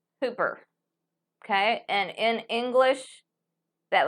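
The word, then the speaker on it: ὑπέρ: Okay, and upsilon, which is your U, is also going to have a rough breathing. Okay? So let me see. Hooper number 5228 would look like this. Hooper.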